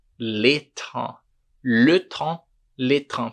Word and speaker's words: trains: Porque le train não é les trains. Le train, les trains. Perceba aqui, train e train a gente pronuncia exatamente igual, porque o S ele não é pronunciado.